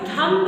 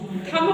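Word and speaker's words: thumb: बच्चे ये बी आपका ये बी आपका साइलेंट है आपको थंब नहीं पढ़ना है ये भी आपका क्या है साइलेंट है ये भी आपका क्या है साइलेंट है आ रहा समझ में थम पढ़ते थे ना अभी तक इसको क्या पढ़ते थे थम क्या पढ़ना है थम क्या पढ़ना है थम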